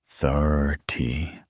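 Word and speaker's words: thirty: 30 and 13 sound similar, but the stress is different. In 13, the stress is on the second syllable. 13. in 30. It's on the first 30.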